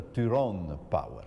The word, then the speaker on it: Tyrone Power: volete fare bella figura ricordatevi che si pronuncia tyrone power